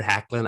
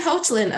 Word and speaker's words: Hoechlin: And now we've Tyler Hoechlin on Supergirl and Superman at Lois.